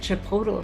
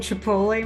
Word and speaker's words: Chipotle: and I said, well, I wonder what that Chipotle restaurant is. He started laughing and he goes, you mean Chipotle, Mom?